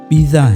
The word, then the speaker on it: Pisa: ہی کہتے ہیں، لیکن اس کا درست تلفظ، اس کی پروناؤنسیشن پیسا نہیں پیزا ہے۔ اسے آپ وہ فاسٹ فوڈ والا پیزا نہ سمجھ لینا، کیونکہ یہ وہ پیزا نہیں بلکہ یہ اٹلی کا شہر پیزا ہے جہاں یہ ٹاور تعمیر